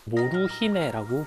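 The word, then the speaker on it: モルヒネ: 아이들의 사진도 남아 있는데 당시 사람들은 몰피는 이제 몰핀이라 발음하지는 않고 일본어로 모르히메라고 불렀어요 단어죠 몰핀을 만든 곳에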